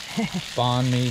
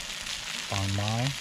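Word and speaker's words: bánh mì: Banh mi sandwiches. Banh mi.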